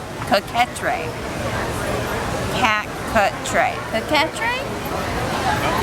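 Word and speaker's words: coquetier: hold on let's try this they've got the pronunciation cat cut tray coquetrae cat cut tray the catrice there are many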